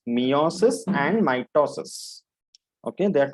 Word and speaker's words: meiosis: sexual reproduction in both metasis and mitosis mitosis and mitosis it is not metal cells it is meiosis okay pronunciation is meiosis and mitosis okay there